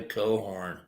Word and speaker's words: Cochran: This is for Margaret Cochran Corbin. And in Ireland, they say Cohorn.